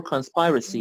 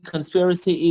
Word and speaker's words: conspiracy: I know it is conspiracy or conspiracy. Both are correct. It has two pronunciations. Maybe conspiracy is a secret plan, and conspiracy theory can mean, for example, توطئه خیانت.